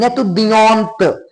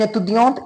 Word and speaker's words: étudiante: Now T would be pronounced because we are having E in the last. Vowel is there, that's why T is not here. This T here, this T, this T is not the last letter anymore. That's why, because we are having E at the ending. That's why this T is not last letter anymore. That's why we have to pronounce it.